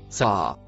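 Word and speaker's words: سعى: Ce que le mot vert se prononce ça.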